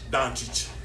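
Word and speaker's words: Dončić: The number one young player in the world is Luka Doncic. If I said it right. Doncic.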